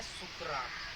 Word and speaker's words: सुकरात: तो अभी हम आज इसमें से एक की ही बात करेंगे, किसकी, सुकरात, हिंदी में बोलते हैं सुकरात। सुकरात, ठीक है।